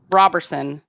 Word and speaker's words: Roberson: It's not Robert, it's Rob. No, Robe. It's not Robe, it's Robert. Like Robert. I used to say Roberson. You had to have a little saying to keep you focused. Because I said it wrong for so long. It's robbing your D scores.